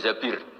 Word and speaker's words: Zabir: Kemudian saya nikah sama Abdurrahman bin Zabir. Di hadis ini bukan bacanya bukan Zubair tapi Zabir, Abdurrahman bin Zabir.